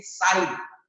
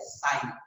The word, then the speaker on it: psi: हम लोग बोलते हैं साइन। PSI, P साइलेंट होता है, we call it एज साइन।